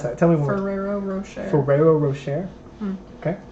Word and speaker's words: Ferrero Rocher: that tell me what ferrero rocher ferrero rocher okay like ferrari but ferrero that's what i was